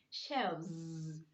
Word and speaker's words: shelves: you say naimz shelf shelves in these words the s is making the z sound you are not to